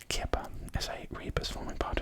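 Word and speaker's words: kheper: The scarab beetle in the top one, pronounced Kippa, is a rebus forming part of Tutankhamun's prenomen,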